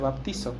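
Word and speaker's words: βαπτίζω: Ahora recuerda que el bautismo, como aprendimos en nuestra serie anterior, es una palabra griega que se pronuncia baptizo, que significa sumergirse.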